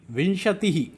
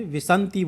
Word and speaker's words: विंशति: एकोनविंशति, विंशति, नेक्स्ट 20 है, 20 क्या कहते हैं? विंशति, विंशति। कई छात्र क्या करते हैं? विसंति बोल देते हैं इसको, विसंति गलत है, विंशति।